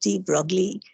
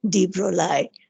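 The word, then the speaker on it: de Broglie: is han tella you had d we always pronounced d broccoli but it was d broly supposed to call it him call him as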